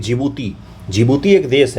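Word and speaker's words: Djibouti: ऐसे है यहीं पर जिबूती है है ना इसका स्पेलिंग डी से शुरू होता है डी जिबूती जिबूती बोलते हैं डी साइलेंट है यहां पर ओके ये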